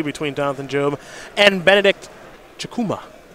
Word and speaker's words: Chukwuma: jonathan jobe and benedict chakuma the w is silent i can do that